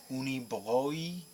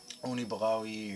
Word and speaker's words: Unibroue: This is only my third one from, I believe it's pronounced in French, Unibroue, or Unibroue, or something like that.